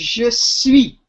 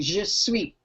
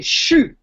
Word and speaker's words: je suis: The actual phrase in standard French is je suis, like the word sweet without the T, je suis. We drop the E of je and say chou.